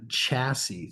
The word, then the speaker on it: chassis: So the purpose of this mount is to keep the engine isolated, meaning not touching the chassis. So if we say chassis, the S is silent for the record.